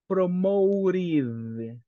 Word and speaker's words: promoted: other in in final Ed in this case pronunciation of this word is promoted promoted in this part right let's practice people